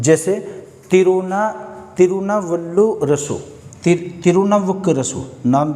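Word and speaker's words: திருநாவுக்கரசு: जैसे तिरुनावल्लुरसु, तिरुनावुक्करसु, नाम भी प्रोनाउंस सही से नहीं होता।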